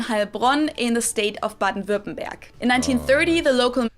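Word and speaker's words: Baden-Württemberg: in the state of baden verbenberg in 1930 the local the way she says that man baton button back i've i've i've been saying buttonburg you know i'm saying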